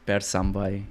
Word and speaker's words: Perth Amboy: Well, if you want, I can pronounce it the way it's supposed to be now by their citizens living there. It's Bersambay.